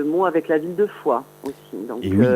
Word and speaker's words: Foix: Voilà, donc en fait j'ai fait un jeu de mots avec la ville de Foix aussi. Donc oui. La foi des artistes s'écrit F-O-I-X.